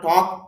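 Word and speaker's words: talk: বচনও না, এই জন্য টক ভার্বের সাথে এস যুক্ত করে দিলাম। এখানে আরেকটা কথা মনে রাখবেন, এখানে যে এলটা আছে, এলের উচ্চারণ হবে না, তাহলে উচ্চারণ হবে হি টক।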